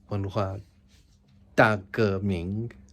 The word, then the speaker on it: 文化大革命: 文化大革命.